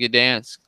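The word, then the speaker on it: Gdańsk: And we're doing a UFC Gdansk post-fight. What is it? UFC Fight Night 118. Correct. And, Toronto. yes. Very good pronunciation of that Polish.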